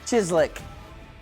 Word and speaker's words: chislic: I present to you chislic.